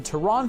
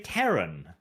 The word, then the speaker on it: Terran: is ruled by a military government called the tehran federation or it's like when people pronounce it z-lot instead of zealots ew wait is he trying to say terran yeah yeah toronto wow there for a moment